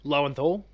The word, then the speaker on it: Lowenthal: I think the performance driven by Yuri, whose last name I can never pronounce. Lowenthal.